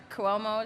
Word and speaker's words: Cuomo: Also to the governor, Cuomo is how I think you pronounce it, right?